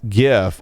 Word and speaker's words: GIF: apparently that gif and yes i said gif and you will take my hard g when you pry it for my cold dead soft palate uh is called